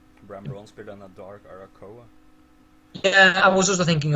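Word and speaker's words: Arakkoa: How do you pronounce it? Arakoa. Arakoa, yeah.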